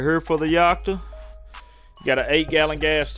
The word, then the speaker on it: Yakta: It's pronounced Yakta. My southern slang is gonna make me say Yakta.